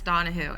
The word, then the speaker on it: Donehoo: session i am miss donohue it is pronounced donna who like you're asking a question the reason i bring